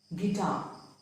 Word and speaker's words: guitar: U is often silent after a G and before a vowel.